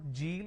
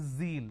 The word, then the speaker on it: zeal: is Zone it's not Jill it is Zeal it's a z sound another mistake that people